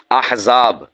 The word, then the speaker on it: احزاب: احراق۔ اسی طور پر احزاب، یہ حمزہ کے زبر کے ساتھ ہے، حزب کی جمع ہے،